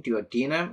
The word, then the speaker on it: duodenum: And the name first of the smaller intestine, duodenum. Yeah, we have talked about the duodenum, right? Duodenum is often pronounced duodenum. Also the pronunciation duodenum is also acceptable.